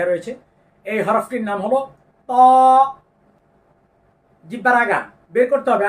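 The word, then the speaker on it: ط: এই হরফটির নাম হলো ত জিহ্বার আগা বের করতে হবে আইনা হাতে নেন জিহ্বার আগা এই যে এই যে সামনের দাঁতের গোড়ার সঙ্গে লাগিয়ে ভিতরে একটু মোটা করতে হবে ত ত আয়না দেখে দেখে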